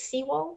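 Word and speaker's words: Siwal: enjoyment from chat regarding i'm gonna say this wrong s-i-w-a-l sewall i've heard it pronounced a lot of different ways but i think internally it's sea wall seawall uh so seawall about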